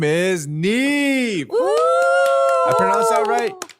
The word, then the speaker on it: NIve: we have a very special guest on the show, and his name is NIve. Woo! I pronounced that right? Yep, yeah. NIve.